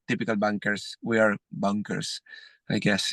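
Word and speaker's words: Bunkr: see what the future brings for us so that's spelled bu n k r bunker correct bunker like uh yeah it's golfers would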